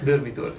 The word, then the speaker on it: Durmitor: And also there's the Durmitor National Park. Yeah. Is that how you say it? Probably not. Durmitor. Durmitor.